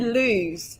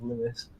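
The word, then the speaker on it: Lewes: how to pronounce lewis did you pronounce it lose yeah yeah a lot of people do i thought double check and it was lewis i mean to be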